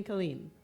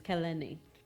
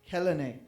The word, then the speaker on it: Kehlani: My mom calls me Colleen, Okay. but the correct pronunciation of my name is Kelene. Kehlani.